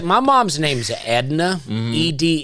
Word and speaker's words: Edna: It's like my mom's name's Edna, Edna, and my grandmother used to call her Edner.